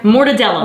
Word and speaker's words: mortadella: Mortadella.